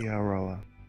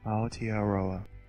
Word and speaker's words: Aotearoa: Oh, he links to the pronunciation. Oh, it's a YouTube video. Aotearoa. Aotearoa.